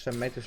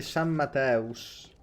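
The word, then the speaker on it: San Matheus: San Matthews non è proprio la pronuncia giusta. Ok, ok. Caserma di San Mateus.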